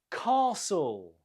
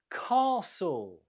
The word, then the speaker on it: castle: Castle. Castle. Again, the stress is on the first syllable, and we have a long vowel sound.